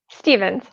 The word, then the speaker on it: Stephens: Stevens. Stevens. Okay, you guys, you know I'm terrible. I never ask the pronunciation beforehand.